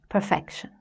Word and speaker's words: perfection: Let's take this sentence: Aim for excellence, not perfection. We have two multi-syllable words in this sentence: 'excellence' and 'perfection'. In 'excellence', the first syllable is stressed: EX-cel-lence. In 'perfection', the second syllable is stressed: per-FEC-tion.